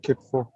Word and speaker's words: Kitfo: Yeah, Veneza is posted and said it's called Kitfo. I hope I've pronounced it well. It's called Kitfo. Sure, you pronounced it well.